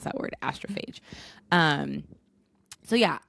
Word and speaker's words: Astrophage: In case you're reading it and not listening to it, that is how you pronounce that word, astrophage.